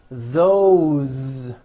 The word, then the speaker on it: those: and a crazy language all these words that I'm going to show you now are written with an S however they are all pronounced with a voice Z why this is I